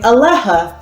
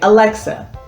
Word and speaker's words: Alexa: first got this ad dustin kept saying aleja aleja and we didn't know what he was saying once i started teaching letter sounds he was able to pronounce the x sound thus being able to say alexa so phonemes are definitely